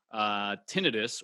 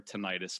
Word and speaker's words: tinnitus: light, sensitivity to noise, tinnitus or ringing in the ears, or tinnitus, people pronounce it differently, irritability, change in behavior,